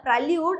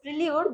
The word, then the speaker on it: prelude: This isn't a prelude, it's prelude, that means a piece of music.